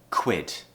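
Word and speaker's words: quid: so I would say there are two difficulties here firstly is the consonant cluster the cut and the were joining together kua we have to do it all in one quick motion so the sound we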